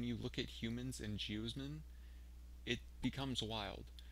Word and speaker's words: geosmin: Geosmin, pronounced geosmin, is an irregular sesquiterpene, which means it takes three isoprene to form it.